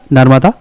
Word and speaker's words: नर्मदा: नर यह वदा है नर्मदा तो अभी उच्चारण नर्मदा भी बोलते लेकिन उसका उच्चारण क्या होता है नर्मदा ठीक चरम चरम बती